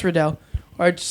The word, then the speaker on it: Riddell: Even though I corrected him multiple times, he would say Liam Riddell, and so a bunch of people would always be like, "Oh, Liam." I was like, "Oh, it's Riddell."